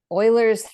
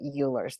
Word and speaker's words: Euler: with this formation right it's called Oilers theorem but I pronounce it Euler's theorem right so I'm going